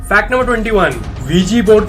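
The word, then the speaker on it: Ouija: तो V G board का नाम जो है OUIJ, वीजी पढ़ा जाता है, इसे प्रोनाउंसिएशन अलग है लेकिन यही है।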